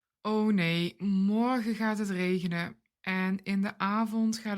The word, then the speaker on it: regenen: Read along when I pronounce these verbs and mimic my sounds. Regenen.